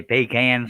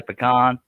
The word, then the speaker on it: pecan: Yeah, some people say pecan, some people say pecan.